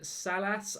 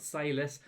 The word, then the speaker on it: Salas: new signings it's then salas i think is how i've been told to pronounce his name not sailors so i think it's salas as the attacking midfielder